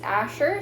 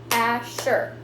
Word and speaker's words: Asher: syllable so three syllables my name is miss asher so that's miss ash sure so each part of